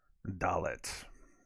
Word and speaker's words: dalet: is going to be dullet is that right did i say that right dalet dalet it's like dalek but dalet dalek is probably a word too um in the in